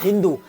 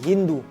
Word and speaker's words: हिंदू: ईरानी और तुर्की लोग 100 को ह कहते थे, इसी वजह से उन लोगों ने सिंधु शब्द को प्रोनाउंस किया हिंदू, और इसी वजह से सिंधु लोग हो गए हिंदू।